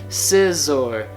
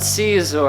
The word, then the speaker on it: Scizor: I said Scizor, not Caesar.